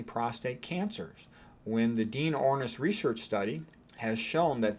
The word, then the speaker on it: Ornish: I always tell people Ornish rhymes with Cornish because they'll remember that.